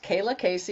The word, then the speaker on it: Kaylaa Kayce: So introducing myself, yes, Kaylaa Kayce is how you pronounce my name. Spelled a little odd, but it's all good.